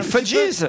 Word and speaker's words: Fugees: Ça s'écrit F-U-G-E-E-S. Ils sont en prononce à l'américaine. Les Fudgees.